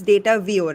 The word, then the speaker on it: Datavio: your product and am am I right in pronouncing it's data VI right yes yes so data VI uh can